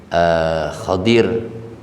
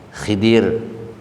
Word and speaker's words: Khidir: in the beach side bacanya macem-macem bisa hodir bisa Khidir kau disini Fadil khasnya